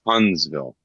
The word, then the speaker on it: Huntsville: It's pronounced Huntsville.